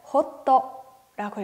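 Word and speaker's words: ホット: 뜨거운 음료를 얘기할 때 이 핫이라고 하는 외래어를 일본어로는 호떠라고 읽어요.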